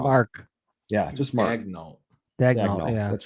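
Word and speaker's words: Daigneault: Mark Dagno. No nickname. Interesting. Not a single nickname listed. Just how to pronounce his last name. I'm pretty sure I got it wrong. Just Mark. Yeah, just Mark. Dagno.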